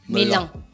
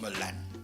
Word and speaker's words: melan: Melan. Mais non, mais là, il n'y a pas de E. Non, mais on dit Melan. Mais tu as dit mélan. Je me suis trompé.